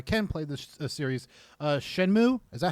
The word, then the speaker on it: Shenmue: Uh, Shenmue, is that how you pronounce it? Shenmue.